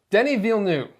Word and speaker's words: Denis Villeneuve: Denis Villeneuve. Believe that's how you pronounce his name.